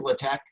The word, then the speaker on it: LaTeX: This was made with LaTeX, or LaTeX, depending on how people want to pronounce.